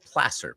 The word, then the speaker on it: Placer: It's all in this county called Placer, Placer, for the Placer mines.